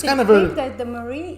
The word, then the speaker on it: Marie: And then for Armenian, we pronounce Marie as like Mari.